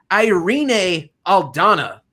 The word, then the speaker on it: Irene Aldana: holm versus that's right irene aldana that's how you say it don't don't sell